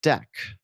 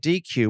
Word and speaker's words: deque: dequeuing off either end of the queue it's pronounced dec calling it dq would create some confusion with the operation dq